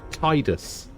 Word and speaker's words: Tidus: The creator of the character from Final Fantasy X says that it's pronounced Tidus, but it's not. It's Tidus, alright?